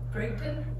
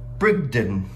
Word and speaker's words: Bridgton: are in brington Maine I looked up on Google how to pronounce it Brigton brigon brigon Brigton okay yeah